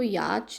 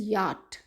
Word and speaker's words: yacht: इसको याच नहीं, च की साउंड नहीं बोलेंगे हम, इट इज़ याट, इट इज़ याट।